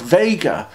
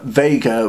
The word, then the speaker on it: Vega: at all the name Vega was probably adopted because the Greek letter nu looks a lot like the Latin letter V and Vega rhymes with the American pronunciation of beta and theta and so so it